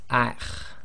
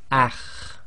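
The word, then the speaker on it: خ: The next one is the letter kha, and it's one of the tafkhim letters, and you've got that slight grinding in the throat. So this will be pronounced as akh, akh.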